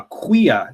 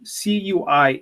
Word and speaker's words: cuia: side of the coin here we have a Quia cuia a Quia this is the most traditional yerbamate gourd in